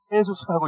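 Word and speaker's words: Jesús: 지저스라고 쓰고 헤이수스라고 읽는 그렇게 되는 것입니다.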